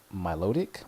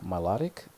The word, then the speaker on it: Milotic: pokémon is I think I feel like I always say this pokemons name wrong even though it's like one of my favorites but Milotic melodic I always think it's melodic kind of like a play on that yeah so I just